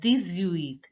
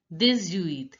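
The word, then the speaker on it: dix-huit: X becomes Z and H is not pronounced. And you have to pronounce the word together as 18.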